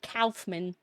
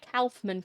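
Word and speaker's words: Kaufmann: Yeah, it's spelled like with a K. Calfman and then you have to fight God cuz Silent Hill is an interesting series.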